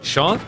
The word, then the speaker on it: Jeanne: Close English pronunciation of Jeanne should be Sean. Sean?